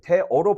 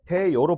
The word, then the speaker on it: 되어: 대어를 대어로 발음하는게 원칙이다. 근데 대여로 발음하는 것을 허용하는 거야.